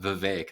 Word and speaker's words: Vivek: I talked a bit about that Vivek. That's how you pronounce it, not Vivek. Vivek Ramaswamy. He's like, is it really? It's Vivek. He said it's like cake.